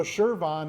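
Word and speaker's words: Chervon: So Shervon is how you say it, and that's who I actually work for.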